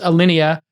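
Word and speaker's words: Alinea: tables obviously you know there's uh I think Alina am I pronouncing it correctly in Chicago Alia al Alia rather yes alenia um you know they sold tickets right essentially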